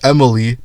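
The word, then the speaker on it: Emilie: there you can even use nahita for the EM buff and help with bursting more frequently on emal guys I keep fucking saying em her name is Emily but the name is spelled so why is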